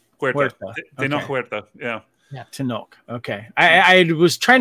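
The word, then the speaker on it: Tenoch: of his language skills how would you uh pronounce uh the lead actor's name who played Neymar um it's tenok and I'm forgetting his last name Huerta yeah yeah to knock okay I I was trying to figure out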